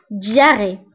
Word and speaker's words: diarrhée: الاسهال هو la diarrhée. فبالنسبة للدياري فتكتب بH ولكن لا ننطقها.